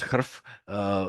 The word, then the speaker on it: chrF: So what we trust more, of course, is COMET, and then I still use CHRF, which I pronounce HRF.